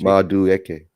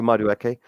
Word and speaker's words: Madueke: Can you pronounce that? Maduk, go on a freeze beyond me. Doing well at PSG. Madueke. Okay, Madueke.